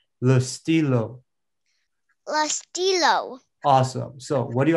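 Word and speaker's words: le stylo: think a pen awesome so in french it's lustilo awesome so what do you guys think listen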